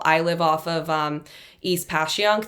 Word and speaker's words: Passyunk: I live off of East Passyunk. There's no H in Passyunk.